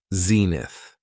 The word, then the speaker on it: zenith: next noun is Zenith it has two syllables and the stress is on the first syllable Zenith when talking about the